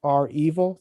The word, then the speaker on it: REvil: So the belief that the hacking group was R Evil, that's how they pronounce it.